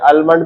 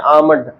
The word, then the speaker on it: almond: पढ़ना है बेटे इसे आलमंड भी बोलते हैं कुछ लोग और कुछ एल को साइलेंट रखते हैं, आमंड। पढ़े लिखे लोग इसे आमंड बोलते हैं, वैसे आमंड ऑयल, और हमारे जैसे सादा लोग आलमंड ऑयल।